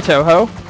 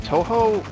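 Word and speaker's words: Touhou: Do you play Toho?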